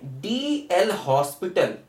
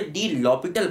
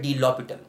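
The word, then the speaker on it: de L'Hôpital: ना, डी एल हॉस्पिटल, इसको वैसे डी लॉपिटल पढ़ते हैं, इसका सही प्रोनाउंसिएशन क्या होता है, डी लॉपिटल, ठीक है। हो सकता है लोग डी एल हॉस्पिटल कहते हैं या कई लोग एल हॉस्पिटल भी कहते हैं।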